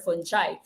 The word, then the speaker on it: fungi: fungi or fungi no you can pronounce this as fungi or fungi as your decomposers now